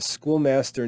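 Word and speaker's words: Scholemaster: he was a a school master named roger ascom a-s-c-h-a-m roger ascom and he published a book that was called the school master the school master it's spelled s-c-h-o-l-e-m-a-s-t-e-r it looks like scole master that was roger askham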